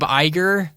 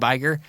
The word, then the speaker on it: Iger: So listen up, Bob Iger. Is that how you pronounce his name? Yeah, Bob Iger.